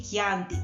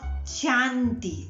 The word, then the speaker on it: Chianti: to say Chianti, not Chianti, as I many times I hear, Chianti doesn't exist. Chianti, because in Italian, when we read the C followed by a H, we pronounce it like a K, very strong, K, K, okay?